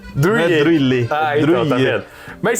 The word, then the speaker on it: Druillet: Mas, por exemplo, eu já aprendi que é Philippe Druillet. Druillet.